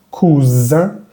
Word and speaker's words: cousin: Lo mismo pasa con esta palabra y la anterior. Esta palabra, la S va a vibrar, cousin, y la anterior no va a vibrar, cousin.